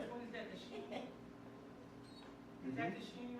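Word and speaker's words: Shin: The next one we have sheen and seen. The dot on the right is sheen. The dot on the left is seen.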